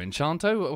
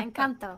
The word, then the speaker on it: Encanto: to you know that Encanto enchanto how do you say the film yeah Encanto that was a weird